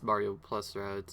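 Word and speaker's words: Mario + Rabbids: Rabbids Kingdom Battle, or I guess Mario plus Rabbids if you say it like that properly.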